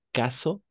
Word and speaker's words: cas: ¿Cómo es el caso en Inglaterra o en Asia? ¿No? ¿Cómo es el Perfecto. caso? Oui, comme c'est le cas. Y no cas, solo K.